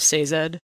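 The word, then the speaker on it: Sazed: are in my head I pronounced it saw Zed because I tend to soften things so instead of say Zed okay lend ham that's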